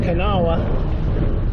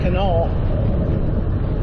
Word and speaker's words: Kanawha: It looks like it should be pronounced Kanawha, but I guess they pronounce it Canal.